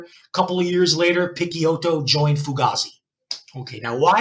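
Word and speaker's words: Picciotto: and the other guy's gui pikiyoto or d pichi hotel if i want to go by the italian pronunciation right i'll go by pikiyoto and uh gi pikiyoto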